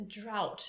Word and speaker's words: drought: A drought.